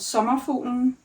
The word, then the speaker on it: Sommerfuglen: speak Danish and I'm having a hard time pronouncing it. It's called summer futen and it means butterfly.